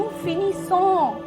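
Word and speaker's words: finissent: और जब Finney, थ्यू Finney, इल L Finney, नू फिनी सो. क्या है? नू फिनी सो. देन वू फिनी से, इल एल फिनीस, इल एल फिनीस. यहाँ पे भी ई एन टी साइलेंट होगा.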